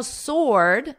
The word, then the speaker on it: sword: Now, sword, notice the W is totally silent, or, sword.